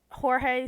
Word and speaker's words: Jorge: Yeah, no, I'm gonna call him Estrada because like Jorge sounds like an H even though it's a J, and Estrada. So he's a Estrada. It's a J and a G actually. Is it? Yeah. Oh my god. And I think his name is spelled Jorge. Okay, yeah, like but the beginning part is J. Yeah. But it's pronounced like with an H because. Yes, yes, because it's Spanish.